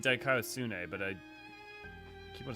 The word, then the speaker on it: δικαιοσύνη: Dikaiosune. Dikaiosune. Everyone keeps saying Dikaiosune, but keep on saying Dikaiosine.